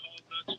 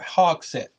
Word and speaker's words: Hogsett: We need to be right down there in their face, in Mayor Hognut's face. Larry. I take it back. Yes, it's Mayor Hogsett. Mayor Hogsett. I mispronounced his name because I'm not that smart.